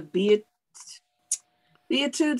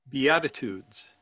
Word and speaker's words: Beatitudes: there is in the be it the etudes i think it's pronounced beatitudes yeah it took me a